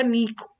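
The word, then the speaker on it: niche: इसकी प्रोनाउंसिएशन बहुत अलग-अलग तरीके से होती है। सो नीक होता है। इसे नीक बोलते हैं।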